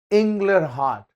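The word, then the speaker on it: Inglehart: Ronald inler har see his full name is inler heart you can pronounce it in your own way it's inler heart so instead of telling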